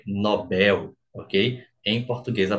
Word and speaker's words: Nobel: ele vai falar que é Nobel não é Nobel é Nobel Ok em português a pronúncia Nobel só sobra pra gente ali subsídio